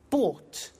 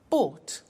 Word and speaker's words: bought: the pronunciation ation bu bought you notice that o u g HT is pronounced ought buy bought come came do did